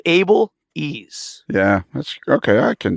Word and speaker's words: Abeles: But think of Able Ease.